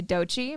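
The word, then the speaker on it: Doechii: here been a month yeah we have to do it today we're not skipping that so uh bear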